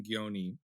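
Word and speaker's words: Gjoni: In September of 2014, Zoe filed a restraining order against their ex-boyfriend Aaron Gioni, or I think it's actually pronounced Joni, but I'm still going to say Gioni.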